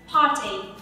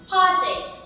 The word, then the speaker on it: party: Okay, từ buổi tiệc ấy ạ, nếu mà theo cách phát âm của người Anh thì mình sẽ là âm a dài, không có âm r, và phát âm là âm ch. Party, party, party, khá là đơn giản luôn. Party, party, party, lại là cách phát âm của người Mỹ. Theo cách phát âm của người Mỹ thì mình phải có âm r, par, và âm ch sẽ được phiên âm là d.